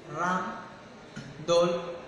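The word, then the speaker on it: Rijndael: Este se desarrolló bajo el nombre de Raje, pronunciado Ram-Dol en inglés.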